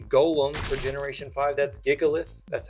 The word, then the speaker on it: Gigalith: The next one here is basically the golem for generation five, that's Gigalith. That's how I pronounce it.